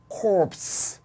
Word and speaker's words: corpse: 그러니까 프랑스어식 발음으로 영어로 넘어오게 되온 거고 요거는 발음을 다 해. corpse 이렇게.